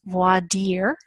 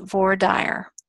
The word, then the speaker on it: voir dire: If you took French, you are aware that it's pronounced voir dire. But in Texas, we don't pronounce it that way. We pronounce it voir dire.